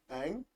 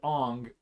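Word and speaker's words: Aang: ever get past is do you want to know how they pronounced the uh Avatar's name Ang Ang the second that they said on I immediately lost respect for the movie um wow yeah I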